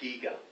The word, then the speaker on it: Giger: Giger, sometimes pronounced Geiger, but it's Giger, Hans Rudolf Giger.